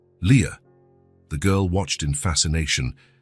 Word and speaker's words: Lia: This is your name," he explained, pointing at each letter as he pronounced them. "Lia. Leah."